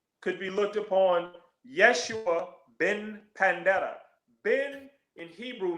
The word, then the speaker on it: Yeshua: And well, I know his name is Yeshua, and Yeshua. it's pronounced like Joshua.